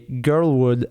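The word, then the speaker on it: GRLwood: Girlwood is spelled GRL, all in capitals, and then Wood.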